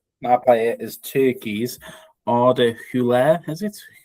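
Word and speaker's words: Güler: Um my player is Turkeykey's Ara Hule is it Huler who plays for Real Madrid.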